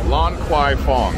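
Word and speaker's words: Lan Kwai Fong: actual sign what's the name of the road Lon Kwai Fong they got crown Super Deluxe you can actually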